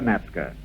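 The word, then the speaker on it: Natzke: in the past although we've pronounced your name Nazca it's always been spelled na t Zed ke I thought about that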